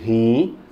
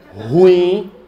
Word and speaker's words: ruim: xerox ruim fale ruim não pode dizer rim ruim é ruim elas são duas sílabas fale ruim de novo